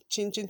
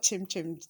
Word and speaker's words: chinchin: Now you still have to be very soft on the dough because you don't want your chinchin to be very strong. Chinchin, not chim chim.